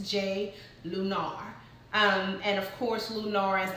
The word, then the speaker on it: Jai Lunar: In case you guys are wondering how to pronounce that, it's Jai Lunar.